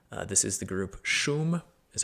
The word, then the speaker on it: Wyy: their existence, but uh this is the group Shum is how you pronounce it, even though it's spelled W Y